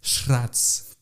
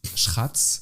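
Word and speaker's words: srác: Et donc je sais pas le prononcer, il est un peu compliqué, il faut dire Schratz. Schratz, on pourrait dire sans rouler le R.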